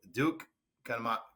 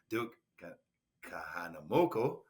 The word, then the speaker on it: Duke Kahanamoku: So I would go with Duke Kanama. Excuse me, I would say his name wrong. Duke Kahanamoku, who is known as the father of modern surfing from Hawaii.